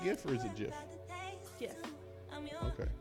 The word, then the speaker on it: GIF: Like GIF, a gift. If you put a T at the end, GIF it'd be is a a gift. peanut butter. GIF is peanut butter and spelled with a J.